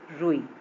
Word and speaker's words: रुई: ऊ की मात्रा रूप, इसमें थोड़ा हम लोग देर तक बोल रहे हैं रूप। और देखिए रुई में जल्दी बोल दिए, छोटे ऊ की मात्रा में जल्दी उच्चारण होता है तो रुई। फिर रूप, है ना, ये